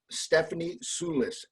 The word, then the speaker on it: Stephanie Soulis: the little mushroom catering company her name is Stephanie Sulis did I pronounce it correctly that's brand jam perfect okay